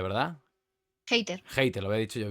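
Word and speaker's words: Hayter: Hater se pronuncia, ¿verdad? Hatter. Hater. Lo había dicho yo bien. Es como hater.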